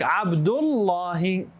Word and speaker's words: Abdullah: Because we, you know, um because when you stop in Arabic at the end of a sentence, it's supposed to be pronounced as sukun. So, Abdullah is correct.